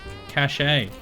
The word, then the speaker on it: cachet: Merriam-Webster says a cache is a group of things that are hidden and pronounced like cache. Cachet can mean prestige, medicine to be swallowed, or an official seal, and is pronounced cachet.